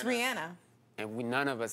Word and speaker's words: Rihanna: It's Rihanna.